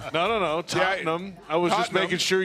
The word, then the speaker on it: Tottenham: win yesterday getting ready for week five at Tottenham hot spur Tottenham hot spur oh you said it wrong no no no Tottenham I was just making sure you knew no